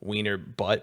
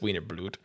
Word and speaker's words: Wiener Blut: pronunciation and call it Wiener Butt, but there's no L, so it's Wiener Blut.